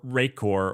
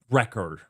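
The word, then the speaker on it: Rekor: Well, uh, or Rayor or any of those things on the open- source side. Um, record, not Rayor. Uh, it's spelled funny and I I sounded out how it like Anyways, record.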